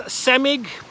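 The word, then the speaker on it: CEMIG: I believe it's pronounced CIMIG. SIG is the sign.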